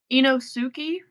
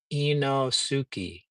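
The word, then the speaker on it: Inosuke: Inosuki. It's I N though. And you're using like a uosuki. I n o enosuki. I am Inosuki.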